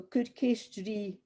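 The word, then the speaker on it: cuir ceist ri: So Kurkestri, Alison, Kurkestri, Pauline, Kurkestri, Caroline.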